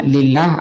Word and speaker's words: لله: yang tengah ini dihilangin asalnya lafaz Allah ini diberi lam awalnya kayak Li Allahi gitu Tapi bacanya lillah alifnya dibuang nah seperti